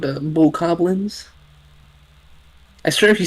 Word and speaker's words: Bokoblins: How do you pronounce the name of the goblin enemies in Legend of Zelda? They are precisely called bokoblins.